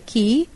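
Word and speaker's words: quay: pronunciation k e y key and q-u-a key are two different words denoting clear-cut different meanings but still they have the same pronunciation I don't understand why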